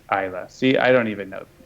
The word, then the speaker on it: Islay: And that's pronounced Isla.